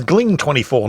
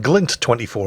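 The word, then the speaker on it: Gling24: and then plot twist his name's gling 24 not glint 24 I've been getting his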